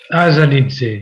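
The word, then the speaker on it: Assanidze: Azanidze. Voilà, oui. Bravo, merci. Azanidze a été libéré le lendemain du prononcé de l'arrêt de la Cour.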